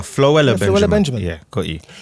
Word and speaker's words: Floella: Oh, flua. Floella Benjamin Benjamin.